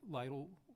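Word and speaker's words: Lidl: you talk to you said Lydell little little rhymes with needle yeah that's the same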